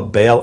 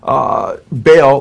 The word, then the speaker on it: Baal: And then Baal, or he says Bel, B-E-L, or Baal, he spells it B-A-A-L, how the Bible spells Baal or Baal, it's pronounced in Hebrew, which is the Canaanite god.